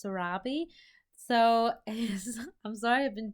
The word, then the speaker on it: Sarabi: I'm saying it right it's actually pronounced Sarabi so I'm sorry I've